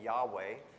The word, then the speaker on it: Yahweh: Uh, obviously our God, and we often pronounce his name Yahweh. We don't necessarily know that's how they said it, but obviously Yahweh can be defeated.